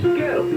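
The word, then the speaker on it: Goettl: Gettle. It rhymes with kettle, except it starts with a G and it's spelled really weird. Gettle. G-O-E-T-T-L. Will keep you cool, but it's hard to spell.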